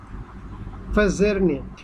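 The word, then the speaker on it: październik: October, দেখেন এখানে PAZDZIERNIK, ফাজারনিক, ফাজারনিক, ফাজারনিক, ফাজারনিক, ওকে ফাজারনিক, ফাজারনিক, DZZ, ওকে, তাহলে ফাজারনিক, ফাজারনিক।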